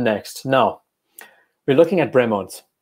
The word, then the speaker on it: Bremont: It's pronounced Bremont.